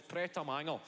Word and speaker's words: Pret a Manger: They're even pronouncing it correctly. Wee man, you're fucking 12. It's Pret a Manger.